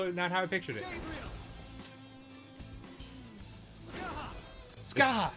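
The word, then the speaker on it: Scáthach: Skathach? Skathach! Wow, not how I pictured it. Skaha! It just sounds like he's saying Skaha. Yeah. Skaha. Maybe it's the way it's pronounced. Skaha.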